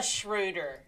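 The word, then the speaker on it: Schröder: like you said true and it's schroder you have to say okay so she's german yes i know it's very exciting for me to get to pronounce a german name in the nba um um which is the schroeder is how you would say it in german yeah the schroeder he's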